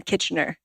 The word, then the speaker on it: Kitchener: And then Kitchener. How do you spell that? Basically, it sounds like kitchen and then there ER.